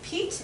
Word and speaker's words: Piet: make me a Mondrian a lot of people say his name of ta but I say Pete it's actually cute this